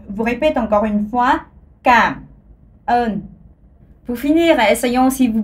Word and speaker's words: cảm ơn: En vietnamien, ça se dit cảm ơn. Alors, encore une fois, cảm ơn. Alors, pour les touristes, quelqu'un a dit que voilà, ça ressemble à come on dans l'anglais.